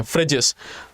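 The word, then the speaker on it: Phryges: देखने को मिल जाएगा बट एक्चुअल में ये फ्रेंच वर्ड है तो एक्चुअल में हम इसको प्रोनाउंस जो करते हैं फ्रिस करते हैं फ्रिज तो ये दोनों आपको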